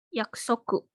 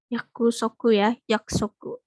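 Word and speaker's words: 約束: Oke Betul ya ini yaksoku yaksoku yakusoku tapi mungkin orang Jepang biasanya pengucapan itu agak samar gitu ku yang di tengah nggak secara jelas yakusoku yakusoku tapi mereka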